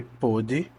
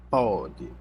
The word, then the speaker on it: pôde: Ele quer saber a questão sobre pôde e pôde e pode, certo? Aqui é como se eu tivesse o som aberto, tá? Lembre, né? Pôde, pôde e pode.